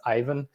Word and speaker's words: Aiven: yeah um because it's a lot of people say even but apparently it's ivan and yeah my background